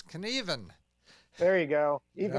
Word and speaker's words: Knueven: It's Knueven. There you go. You Even don't, Knueven. you don't pronounce the U.